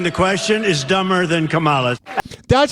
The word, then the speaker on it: Kamala: say it the same way I know it's camela whatever but I like camela to but listen asking the question is dumber than Kamala that's how you say it if Trump says it that's how it's Camala it sounds better camela get the hell out